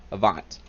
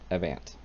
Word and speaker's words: Avant: server Avant three yep I've been saying it wrong before Avant not i vant the bot I don't